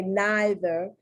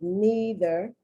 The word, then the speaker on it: neither: Receipt, Lee, okay, once again, the Brits say neither, but Americans say neither.